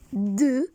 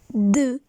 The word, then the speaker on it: deux: In the pronunciation is deux. Repeat, deux.